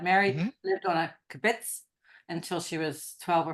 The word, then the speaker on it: kibbutz: kabish. I'm saying it wrong. Kibbutz. Kibbutz.